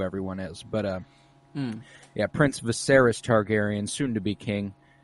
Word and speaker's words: Viserys: I don't know why I thought it was such a massive time jump whenever King Viserys. Is that how you say it? Viserys, yeah.